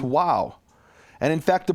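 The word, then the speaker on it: واو: The letter Vav exists in Arabic, and it's pronounced wow.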